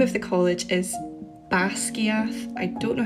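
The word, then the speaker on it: Basgiath: wants it pronounced but it's actually two Scottish Gaelic words bass and skia bass means death and skier means Wing so you can see how it makes sense to have a dragon college called Deathwing unfortunately if you don't put the accent on the a in bass it doesn't mean death it means Pam as in the palm of your hand so instead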